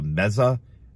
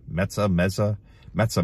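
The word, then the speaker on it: Mezzeh: It's the Meza, I think that's how you pronounce it, M-E-Z-Z-E-H. Meza makes it sound Italian.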